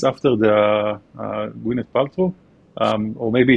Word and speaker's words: Gwyneth: Let me maybe first tackle the most important one is where Gwyneth comes from. And yes, for sure, the pronunciation is how Gwyneth Paltrow is pronounced. So that's Gwyneth is the correct pronunciation.